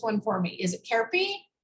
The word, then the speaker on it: Khepri: distributing two successful CBD companies, Higher Healing, and pronounce this one for me. Is it Khepri? Khepri. Khepri.